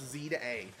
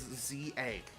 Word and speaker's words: Z-A: It's not Z, the game's not pronounced Z to A. It's Z-A.